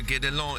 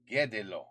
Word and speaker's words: Guédelon: The Château de Guédelon is Oh, Guédelon. Guédelon. Yeah, I definitely said it wrong. Guédelon. Okay, got it.